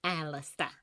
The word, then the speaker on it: Alastor: Rosie pronounces his name with an old tiny lil making it sound more like Alistister.